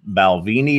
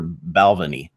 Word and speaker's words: Balvenie: I was told it's it can be Balvenie or Balvenie either one but it's not ball which I mean when